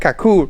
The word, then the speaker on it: Kaku: we're right here at kakur is that how you say it yeah it's Kaku kak Kaku it's the Hawaiian name